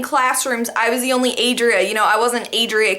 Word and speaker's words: Adria: Hi, I'm Adria. Oh, nice to meet you, Andrea.